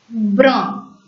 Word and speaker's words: brun: The same pronunciation from the nose has to be applied for the French words which have UN and UM. Brun. Brun.